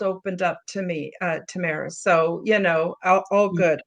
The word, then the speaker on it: Tamara: Oh and it's Tamara by the way. It's like a long version of Tammy but just not a big deal but you know people pronounce different ways.